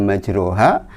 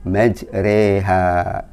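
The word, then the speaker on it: مَجْرَاهَا: harus bacanya bismilahi majreha tulisannya majroha tetapi kita bacanya majreha teuing Allah itu Hurip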